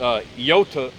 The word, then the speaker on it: iota: In the Greek, the I is pronounced, well, it looks like an I, but it's pronounced iota. Iota. You pronounce it with the E sound.